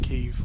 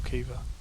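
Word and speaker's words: Caoimhe: When we did Xandri's session and her housemate guitarist, it's spelled C-A-O-I-M-H-E, and it's pronounced Kiev or Kiva.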